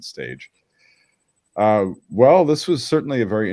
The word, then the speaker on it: Stage: Yeah, that's how I remember his proper pronunciation, because I thought it would be Staga, but it's the Dane. They pronounce it stage.